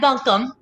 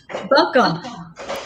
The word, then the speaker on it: Buncombe: So that's Buncombe. Buncombe.